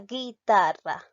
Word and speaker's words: guitarra: sí la verde está bien en la pronunciación pronunciamos la palabra guitarra entonces me doy cuenta que aquí la vocal